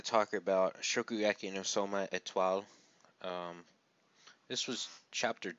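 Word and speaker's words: Étoile: I was going to say Shokugeki no Souma Etoile like an American, but it's Etoile.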